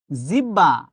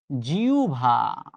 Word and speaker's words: জিহ্বা: উচ্চারণ কি আও ভান আমরা বলি জিহ্বা পুরোটাই ভুল এটা উচ্চারণ হচ্ছে জিউভা এখনি চোখ দিয়ে মাথার মধ্যে ঢুকায় রাখেন পরীক্ষায় এখান থেকে অনেকবার প্রশ্ন এসেছে।